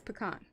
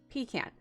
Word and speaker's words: pecan: it up on google it says pecan okay and then you can switch to the i know it's really bright but british pronunciation yeah pecan steve don't you dare